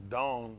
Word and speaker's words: Dan: And we're going to say Dan, but it's pronounced Dawn.